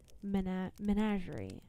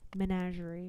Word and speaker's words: menagerie: Menagerie, right? It's like a not a managerie.